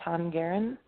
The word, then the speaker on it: Tongeren: Okay, I'm going to spell it for you. It's in Belgium. Okay. It's T-O-N, like Nancy. Okay. G-E-R-N, Tongeren.